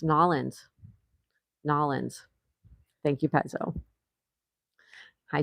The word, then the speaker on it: New Orleans: Pezzo says New Orleans, properly pronounced Nolans.